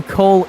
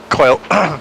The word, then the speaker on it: Coyle: And, I don't know who Cole is, Howie, our producer, because my last name is spelled with a Coyle. What? Coil. Coil.